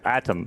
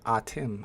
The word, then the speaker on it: Atem: Oh, it's Atom. Yeah. No, it's not Adam. We called him Adam for like 3 years. We were wrong. Atem? He just corrected us. It's Atem? Atem.